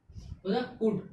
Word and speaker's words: could: कितने का हम लोग प्रोनाउंसिएशन किए? SOUD, शुड। कुड।